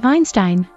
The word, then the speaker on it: Einstein: that will pull in multiple directions as to Einstein it is spelled the same in both German and English